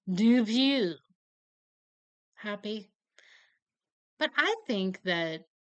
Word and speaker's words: Dupieux: That's how we're saying the first name, and fine, I will give you the sufferable French pronunciation, Quentin Dupieux.